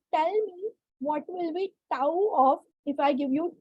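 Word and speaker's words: τ: We pronounce this symbol as tau.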